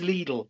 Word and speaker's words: Lidl: And it is Lidl, as they corrected my pronunciation.